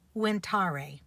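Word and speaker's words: venire: root word is actually winar the V is pronounced like a w in Latin and it means to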